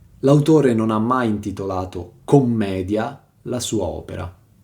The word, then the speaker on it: Commedia: L'autore non ha mai intitolato commedia la sua opera, perlomeno non con la doppia M e l'accento sulla E.